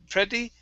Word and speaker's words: pretty: Instead of pretty. Okay, it's pretty. Short E sound.